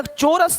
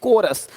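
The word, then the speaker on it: chorus: चोरस नहीं, कोरस।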